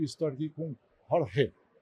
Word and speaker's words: Jorge: Eu sou o e estou aqui com Jorge. Pronunciei certo?